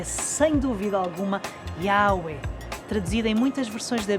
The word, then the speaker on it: Yahweh: Quando pronunciado sem vogais, o nome de Deus soa exatamente como uma respiração. Yahweh.